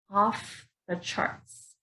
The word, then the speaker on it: off the charts: here off the charts off the charts so notice here I'm putting the worst dress on the first word off so off the charts again stress on charts off the charts off